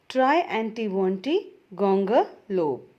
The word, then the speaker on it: Triantiwontigongolope: very easy for you to say it or pronounce it the poetry is try antiventi ganga lope by c j dennis now let us study